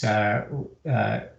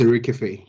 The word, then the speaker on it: Erikafe: I apologize if it's Urkeef. It's Erikafe. Erikafe.